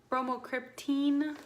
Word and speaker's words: bromocriptine: she prescribed me she put me on bromocriptine bromocriptine which is how it says it's pronounced here this stuff sucks I just think